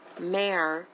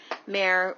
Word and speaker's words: Mayer: and type in john mayer rare it's easy to remember because it rhymes john mayer r-a-r-e and you will find